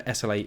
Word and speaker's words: SLA: kind of known for SLA Industries, which I think is normally pronounced Slay Industries, but I can't do that because that's not how it actually looks, and it breaks all my programming to call it that.